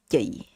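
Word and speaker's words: chị: female, you call them yay. Okay, so this looks like a ch. It's look like a ch in English, right? It looks like ch, chick, but this ch is a voiceless sound.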